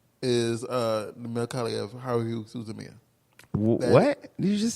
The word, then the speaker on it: Haruhi Suzumiya: Marika, how do you pronounce this? Yes. Haruhi Suzumiya.